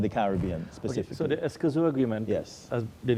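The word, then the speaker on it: Escazú: to help me with this I hope I pronounce it uh correctly uh there's an agreement called the escazu agreement yeah I got it right you got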